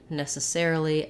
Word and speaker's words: necessarily: uh necessary and then for necessarily necessarily the stress changes to the air syllable so there we have